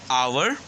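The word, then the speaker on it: hour: Here you can see some words: our, honorable, honest. When we say our, the sound which comes is A sound. A sound. Our. Two A's are there. Our. And also the letter H is silent.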